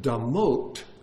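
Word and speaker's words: דמות: So even damut has to do with internality. And you could even pronounce that word damot, which is the plural of blood, bloods.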